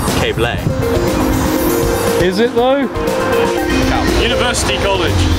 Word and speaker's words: Keble: Keble College. Actually, it's pronounced Cable.